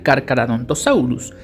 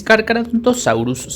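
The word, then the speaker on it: Carcharodontosaurus: Eso quiere decir que la C y la H en latín no se pronuncian, sino más bien tienen el sonido de una J o el de una K. Por eso se pronuncia cárcaradontosaurus.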